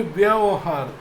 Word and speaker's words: व्यवहार: जब आप इस शब्द को बोलते हैं, उसका उच्चारण करते हैं, तो वहाँ पे व्यवहार, व्यवहार, तो यहाँ पे आप आधा व और यह एक साथ बोलते हैं और वहार एक साथ बोलते हैं।